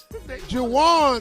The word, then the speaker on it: Juwan: Jawan rhymes with Deshaun.